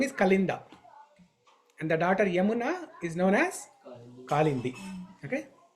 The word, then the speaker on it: Yamuna: is another name for yamuna River okay callind the jamuna because the river yamuna or jamuna okay it's pronounced as jamuna it's yamuna jamuna whatever